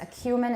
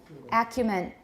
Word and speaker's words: acumen: next two um acumen i still hear this a human is possible it's again it's a very high level word we do use it but now we say acumen and it's commonly used in